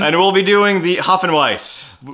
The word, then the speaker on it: Hopfenweisse: and we'll be doing the Hopfenweisse. Not to be confused with the Hopfenweisse. Hopfenweisse. Hopfenweisse. Pronounced It's a German word.